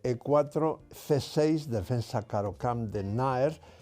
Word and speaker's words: Nájer: c6 defensa carocam de naer Por cierto naer se escribe náger pero esa J no se pronuncia es naer y ahora en lugar